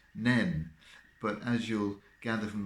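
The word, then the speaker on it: Nene: If you're interested, the Northampton side won, so this year it's pronounced Nen.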